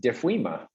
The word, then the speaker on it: DFWIMA: the metaverse see ya jeff i learned it's pronounced defuima it is that's the way we do it